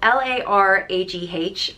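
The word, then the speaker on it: Laragh: name is Lara and it's spelled l-a-r-a-g-h and it's pronounced Lara and it's derived from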